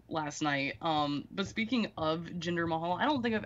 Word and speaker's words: Jinder Mahal: But speaking of Jinder Mahal, I don't think I've ever been able to say his name correctly. It's always been Ginger Mahal or Dinner Mahal.